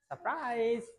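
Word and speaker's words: surprise: এটা উচ্চারিত হবে না কনসোনেন্ট এর আগে থাকলে উচ্চারিত হবে না যেমন এটার উচ্চারণ তাহলে কি হবে সারপ্রাইজ আমরা বলি সারপ্রাইজ হবে সারপ্রাইজ সো কোন কনসোনেন্ট এর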